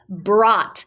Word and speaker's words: brought: g h t brought now when we hear the word brought i just hear ba er uh i just hear a short o sound but look at all these letters that are not saying anything smarties these are words that